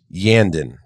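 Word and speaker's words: Iyanden: the Eldar craft world yandan that is the pronunciation I'm going to go with i y a n d e n see how [ __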